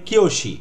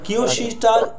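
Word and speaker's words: 教師: বিষয়টা হচ্ছে আরও কি আছে, যেমন এই কিয়োশি, দেখেন কিয়োশিটা উ আছে, হ্যাঁ কিয়োশি, এই উঠার কারণে একটা লং ভাওয়েল বলা হয়, টানা উচ্চারণ, কিয়োশি কিয়োশি, বিষয়টা এরকম।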